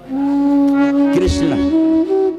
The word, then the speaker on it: कृष्ण: अरे राम तो नाम उच्चारण करने भी में भी सीधा है, राम और कृष्ण का नाम थोड़ा उच्चारण करने में भी थोड़ा कठिन है, कृष्ण। तो कोई कोई तो कृष्ण बोल भी नहीं पाता, किशन बोलता, किशन नहीं।